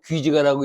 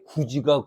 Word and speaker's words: 구지가: 우리 고대 가열 중에서 귀지가라고 있지 거부가 거부가 목을 내놓 안 내놓으면 구워서 먹으리 이런 거 그걸 되게 구지가 구지가 그러는데 틀린 말이야 거북기를 나타내기 때문에 귀지가 이렇게 발음을 해야 맞습니다.음 음.